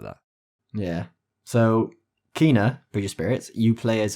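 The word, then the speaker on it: Kena: time by the way it's kina bridge of spirits well it's not kenner it's not kenner it's kinah how did you find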